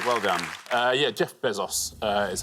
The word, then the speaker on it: Bezos: Uh yeah, Jeff Bezos uh is how you would pronounce it, but uh yeah, he's the richest man on the list.